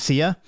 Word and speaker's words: Xea: You find another room from someone named Sia, and it's spelled Xea.